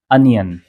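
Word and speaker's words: onion: अनियन नहीं इसका सही प्रोनाउंसिएशन है अनियन। अनियन। ओ का साउंड प्रोड्यूस नहीं करना है हमें बल्कि अ का साउंड प्रोड्यूस करना है। इसको अनियन नहीं अनियन कहेंगे।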